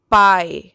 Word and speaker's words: pie: the next one is pi what is the spelling of pi p i e pi now in the word pi which we do not hear the sound of e when we say the word by okay the next